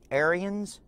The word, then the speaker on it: Ariens: showing the snowblower and it's called the aryan aryans uh a-r-i-e-n-s that's how it's pronounced uh and it is the s-18 or